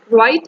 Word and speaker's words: write: k letter is silent write an essay about your best friend so in write the w letter is silent because when we pronounce